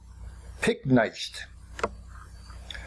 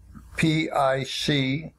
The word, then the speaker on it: picnicked: If we didn't, we would write P-I-C-N-I-C-E-D, and it would be pronounced picnized, which changes it from the original word sound of picnic. So we write P-I-C-N-I-C-K-E-D and pronounce it picnicked, picnicked, picnicked.